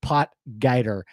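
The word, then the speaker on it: Potgieter: Kyle guer guer porer like come on guys pronounce the name right pot guer um okay that's it for me I don't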